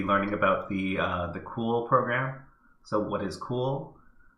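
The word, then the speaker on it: CeWL: tasks okay so overview cool pronounce cool is a custom wordless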